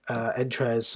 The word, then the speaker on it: Entrez: annotation we need the entrez or entre depending on how you like to pronounce it gene ID I've actually